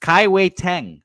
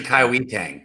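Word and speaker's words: Kai-Wei Teng: I believe that is how his name is pronounced. Kaiwei Tang. It's actually Kaiwi Tang.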